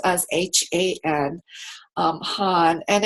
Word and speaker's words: Han: In English, we spell it with spelled as H-A-N, Han.